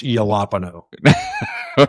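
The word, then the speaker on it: jalapeño: Pepperoni and jalapeno, which I pronounce yalapo.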